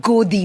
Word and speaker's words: Godi: It's called Godi media. It rhymes with Modi.